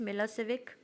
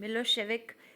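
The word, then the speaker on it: Milošević: आर in majority सर्ब्जोत मिलो सेविक pronounced मिलो शिविक हैड वन the election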